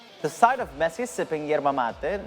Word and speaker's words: yerba mate: And yes, it's pronounced yerba mate. Yerba mate. Yerba mate. Mate. Mate, correct.